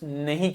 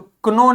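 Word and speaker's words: know: एन लिखा है तो क्नो नहीं बोलेंगे क्या बोलेंगे नो क्योंकि के का साउंड नहीं आएगा जी लिखा है उसके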